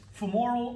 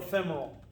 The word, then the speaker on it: femoral: But it's femoral or femoral. Okay, you'll hear it pronounced both ways.